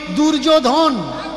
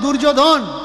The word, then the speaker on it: দুর্যোধন: এরা উচ্চারণ করে কি দুর্যোধন, ধয়কার দন্তেন্য দুর্যোধন, কিন্তু ধয় ওকার নয়, ধ দন্তেন্য ধন। ধন মানে সম্পত্তি, আর ওটা কি দুর্যোধন।